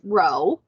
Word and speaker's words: rho: greek letter row so i know it looks kind of like a p but it's pronounced row um and this is